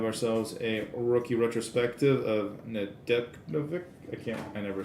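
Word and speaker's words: Nedeljkovic: a rookie retrospective of nadek i can't i never say his name right alex nadel the silent j got a young guns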